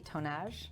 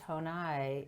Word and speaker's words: Tonaj: to pronounce this properly tone ash tone I tone I see we didn't have a conversation before so the J is silent day tone I interesting okay thank you